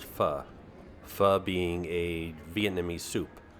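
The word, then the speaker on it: pho: know it looks like Phu but it's actually pronounced fuh fuh being a Vietnamese soup there's another Vietnamese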